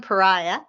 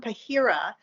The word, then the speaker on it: Pahira: Dr Joseph Joseph John no John Dr John Pariah did I say it right PIRA PIRA I let me start that again Dr John pahira who is Professor of Urology in Georgetown uh